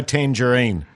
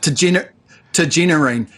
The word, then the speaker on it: Tagenarine: How do you say his name again, Paul? Because I always go Tangerine. Yeah, which is almost, well, it's sloppy from a professional broadcaster such as yourself. Tagenarine. And, Tagenarine.